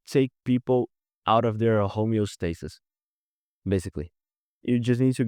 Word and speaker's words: homeostasis: saying it right in in English homo no homeostasis like get a reaction from them so if